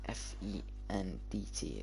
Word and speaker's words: Fendt: It's like FENDT. Is that how you pronounce it? It's a brand. Yeah, look. You got ACGO. Oh, FENDT. Yeah. It's Fend. It's Fend. Fend. The T is actually silent.